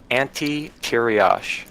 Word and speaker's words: Ante Tiriosh: And how do you pronounce the guild's name again? Ante Tiriosh.